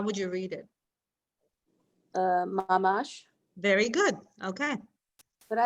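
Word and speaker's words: ממש: Would you say mamash or mamash? Mamash.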